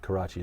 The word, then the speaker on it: Karachi: Yes, they Karachi? are. Is that how you say it? Karachi, yeah.